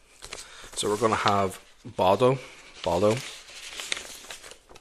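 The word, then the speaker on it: Baudo: I keep saying this name wrong. I use a random random generator. Random generator for most of these guys. So, I keep calling him Baldo, but it's no L. B A U D O B.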